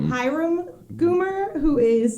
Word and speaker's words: Hiram: but he is playing is it hirom or i think it's pronounced hiram goomer who is like